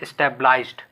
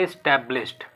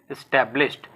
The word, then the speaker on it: established: कुछ इसको प्रोनाउंस करते हैं एस्टेब्लाइज्ड, जो कि गलत है। इसको बोलेंगे एस्टेब्लिश्ड, ठीक है, एस्टेब्लिश्ड, जिसका हिंदी मीनिंग क्या होता है मैं बताता हूं आपको।